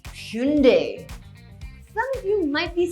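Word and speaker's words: Hyundai: I think this is commonly pronounced as hyoon-die, but it should be Hyoon-dey.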